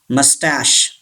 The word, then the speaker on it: moustache: two it's very tricky moustache say this word moustache ch gives the sound of sure he should be silent